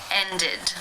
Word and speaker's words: ended: In the infinitive, the final sound is the d sound. Therefore, it is case 3, ended, where the ed is pronounced with the I as in sit and the d sound. Ended.